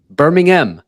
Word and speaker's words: Birmingham: Birmingham. I think that's how you say it, the UK way.